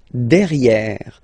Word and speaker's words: derrière: So if you look carefully, you've got E here and then double R. So it will open the sound of this E and you should pronounce it E. Okay. Der. Derrière. Same thing here. You've got this E accent grave. E. Derrière. Okay. Don't pronounce the final E.